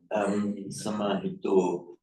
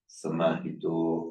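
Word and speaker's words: samāhito: I think if you are pronouncing it naturally in the phonetics of your native Korean, would you make that O a little bit shorter? Samahito. Yeah, usually a vowel will be shorter. Okay. So when you're pronouncing Sanskrit and Pali, be careful to make that final Samahito. Samahito.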